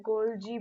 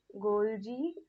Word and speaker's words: Golgi: कई बच्चे से बोलते हैं माइटोचॉन्ड्रिया, तो वो गलत होगा, ये माइटोकॉन्ड्रिया जैसे ही हम प्रोनाउंस करेंगे, ठीक है। और क्या होता है इसके अंदर? गोल्जी बॉडीज, गोल्जी बॉडीज, ठीक है।